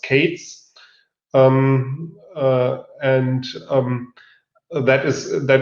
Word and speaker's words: K3s: then there is a k3s pronounced cates um and that is